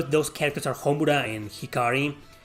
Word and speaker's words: Hikari: said that mithra's name was shikari when when in reality it's hikari without the s at the beginning but rex i'm pretty